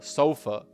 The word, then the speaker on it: sofa: It's it's a difficult pronunciation because it's not ah, it's a sofa. sofa. That is the official American pronunciation. It's a schwa sound at the end. Not an ah, not an open a sofa, but rather a sofa.